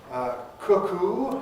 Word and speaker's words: cuckoo: different pedigree and immigrant cuckoo has to have long ooh at the end thank you has this